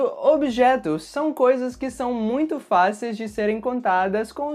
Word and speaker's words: muito: se você reparou mas sempre que eu falo essa palavra eu adiciono um som nasal no meio da palavra portanto a pronúncia correta